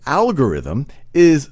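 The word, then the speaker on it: Algoritmi: algebra but the word algorithm is literally comes from his name the name is me in latin they pronounce as algorithmi so other significant contributors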